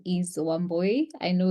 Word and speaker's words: Wambui: to you please hello everyone my name is woy I know it's um a bit difficult to pronounce woy um from Kenya and I am really happy